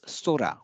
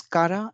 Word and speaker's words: 空: and it was and it's pronounced as Sora when it is used as Sky Sora so this Kara and Surah both are